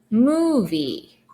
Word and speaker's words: movie: Movie. I-E. Again, I-E combination. It makes a long E sound.